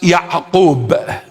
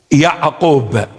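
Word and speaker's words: ܝܥܩܘܒ: In the original text, in the original language, or in Syriac Aramaic, it is pronounced Ya'qub. Ya'qub. An. Ya'qub.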